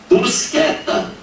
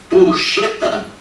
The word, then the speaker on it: Buscetta: Em vez de você, do jornalista, pronunciar isso aqui, ó, de forma portuguesada, buceta, ou então de acordo com a língua italiana, Buscetta, o que eles inventaram?